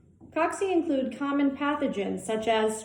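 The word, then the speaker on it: cocci: first category of shape for bacteria is called coxy that's spelled c-o-c-c-i coxy coxy include common pathogens such as streptococcus pyogenics next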